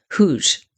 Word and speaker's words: Hooge: They're close enough to what happens at Hooj on July 30th, 1915 to understand immediately, viscerally, exactly what it means. Huge That's spelled H O O G E.